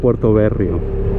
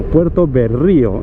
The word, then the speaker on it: Puerto Berrío: you heard correctly 36 We have arrived at Puerto berrio no Puerto berrío is with an accent on the i we are Crossing the